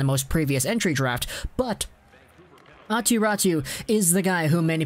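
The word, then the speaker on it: Aatu Räty: in finnish it's not pronounced like that it's pronounced aturatu he actually has a brother akiratu who was taken by the arizona coyotes in the most previous entry draft but atiratu is the guy whom many people thought would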